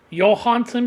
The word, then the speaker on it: Johansson: Scarlett Johansson. Or if you're actually from Denmark, I think it's pronounced Johansson because her father was actually from Denmark.